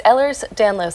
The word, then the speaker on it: Ehlers Danlos: How do you pronounce it? It's Ehlers Danlos Syndrome.